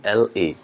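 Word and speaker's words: heir: ভিই আই সি এলই। এর উচ্চারণ হচ্ছে বেখল। বেখল। ওকে। তারপর যে শব্দটা রয়েছে এখানেও এইচ এর উচ্চারণ নেই। তার মানে এইচ বাদ।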